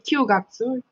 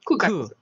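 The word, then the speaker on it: 九月: And then this one you also remember, you don't say Kyugatsu, you say Kugatsu.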